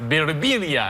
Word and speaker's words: Birbiglia: It's been, people come up to me, they say, in Italy it's pronounced Birbiglia, and I say, in America, you're annoying. You're right. We just say it wrong.